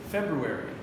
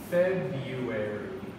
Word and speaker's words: February: of people English nerds English nerds say February everybody else says febuary Febuary Febuary okay so